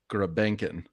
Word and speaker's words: Grebenkin: Yeah, I see on Elite Prospects the way it's spelled is Grebionkin, but it's AKA Grebenkin.